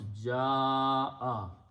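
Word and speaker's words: جَاءَ: And also the rule is that when you have a Hamza and there is a alif before that, in the tajweed you put a mad there and pronounce ja'a.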